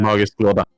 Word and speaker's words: magisk låda: magisk låda. How do you pronounce the A? Magisk låda. Å is the part of låda. Lorda. Låda.